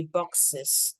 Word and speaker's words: boxes: said 100 gift box the correct pronunciation would be boxes with clear es if you want to to sound really like native you say it with Iz boxes okay boxes so 100 gift